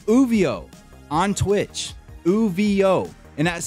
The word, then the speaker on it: Ouvio: He goes by the name Uvio on Twitch, Uvio, and that's spelled OUVIO_.